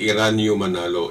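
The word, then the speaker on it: Eraño Manalo: minister pala ng iglesya ni kisto ay si Iran manalo ito ang anak ni Felix Manalo dah naak ni Felix Manalo bilang leader pinalitan ito ng anak pinili nila yung anak na si Iran manalo By the way Bakit may kahalili ang tungkulin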